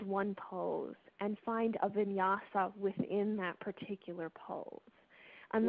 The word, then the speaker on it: vinyasa: now I'm looking for the – is it, pronounce it for me so I don't destroy it. Vinyasa? Oh, vinyasa.